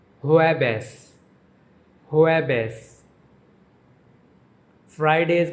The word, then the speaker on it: jueves: Thursday is pronounced jueves, jueves. J is pronounced like H and V is pronounced like B in Spanish. Jueves, jueves.